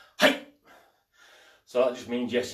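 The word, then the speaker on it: はい: all to be saying hey so that just means yes in japanese it means i understand spelt h a i and it's pronounced not hi everything you say in japanese is short and sharp um that's not because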